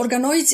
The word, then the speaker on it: organoids: Can you explain Can you correct my pronunciation and explain what those are? No, perfect. So, organoids is actually a technical term how we call